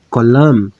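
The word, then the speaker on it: כולם: É que no plural masculino eu vou pronunciar colam. Com o som do mem sofite.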